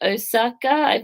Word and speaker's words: Osaka: to take you home be okay too and Osaka that's how you say it oh and I